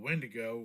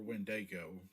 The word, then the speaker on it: Wendigo: The Wendigo or Windego, depending on how you pronounce it, is this demonical spirit